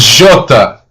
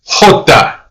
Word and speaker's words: jota: Now, sometimes I tend to pronounce the letter J as Jota because that's the Portuguese or Brazilian pronunciation.